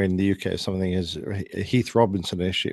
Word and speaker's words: Heath Robinson: now make my all to frequent journeys to Heath Robinson international all the more bearable did I pronounce that correctly sir yeah that's good Heath Robinson he was a quite a famous artist around